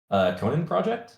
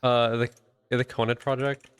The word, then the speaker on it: Conet Project: Conan Project? The Conet Project. Oh, the Conet Conet. Project. That's how it's Yeah.